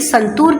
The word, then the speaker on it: santoor: जबकि संतूर के अंदर जो ओ ओ की साउंड है वो कैसी है? लंबी है।